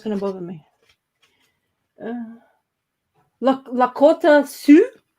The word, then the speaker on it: Sioux: Lakota Sioux. That's how you Yeah. pronounce it, like Sioux.